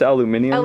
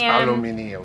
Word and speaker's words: aluminium: It's aluminum, yeah. So it's aluminum. It's pronounced aluminium. It's aluminium. This phone has been well loved.